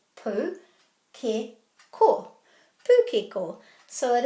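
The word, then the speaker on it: pūkeko: The key to pronouncing any Māori word and getting these vowels right is to put a little break after every vowel.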